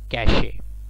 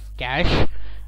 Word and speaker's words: cache: and cash or Cache there are two pronunciations for it some manufacturing company is the name it is at call it as cash whereas with e silent and the others call it as cache so it's really up